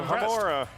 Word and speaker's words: Alohomora: That was the one he kind of mispronounced, too. So Alohomora.